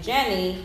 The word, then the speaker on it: Jenni: So the fact that she always pronounced her name Jenni and not Kenny, right, exactly.